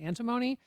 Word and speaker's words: antimony: processed um I think I'm saying this right, antimony for the US military to use.